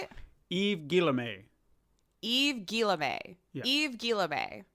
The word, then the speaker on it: Yves Guillemot: Yves Guillemot.